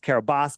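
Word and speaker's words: Kiribati: I TI that's what it's called right it's pronounced Carabas but I don't care it's it's spelled kabati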